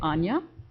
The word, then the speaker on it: Ania: I always say Anya. Anya, 2 syllables.